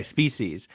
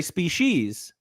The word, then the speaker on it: species: Okay, Spe-sees. Well, no, because I've heard it both ways. Okay, so I say Spe-sees, but some people say Spe-shes.